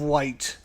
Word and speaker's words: Wight: it one at a time, because otherwise it's pronounced like Wight. Isle of Wight.